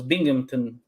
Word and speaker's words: Binghamton: are silent in being Hampton uh so it's Binghamton Binghamton Binghamton okay or oh no the a